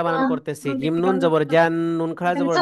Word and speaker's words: جنات: تواضع ওকে, এবার দেখেন আমি এই পুরাটা বানান করতেছি। জিম নুন জবর জান, নুন খাড়া জবর না, জান্না। জিম নুন জবর জান, নুন খাড়া জবর না, জান্না। তাওয়াও দুই জের তিউ, জান্নাতিউ।